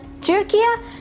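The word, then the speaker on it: Turquía: Next, you have Turkey, which is pronounced as Turquia.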